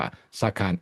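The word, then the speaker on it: Sarkhan: ประเทศ นั้น ว่า ซา คน ไทย อาจ จะ ออก เสียง และ เขียน สะกด เป็น สารขันธ์ ซึ่ง ก็ ไม่ ถูก ต้อง นะ ครับ ควร จะ เรียก ว่า ซาคาน s A r เท่า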